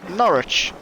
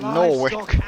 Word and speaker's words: Norwich: And we're currently in Norwich. They call it Norwich in this game, but it's pronounced Norwich.